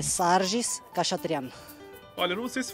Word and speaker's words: Sarkis: É, tem muita gente que fala Sarges, Sarkis, mas é Sarges Khachatryan.